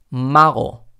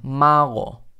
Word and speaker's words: mago: mago no estoy diciendo mango y tampoco estoy diciendo majo que muchas veces muchos alumnos aquí escuchan una jota pero no es realmente una jota mago malo no es como no w mago mago no llegó a cerrar del todo la glotis como mac go go a si no mago mago otra palabra puede ser negar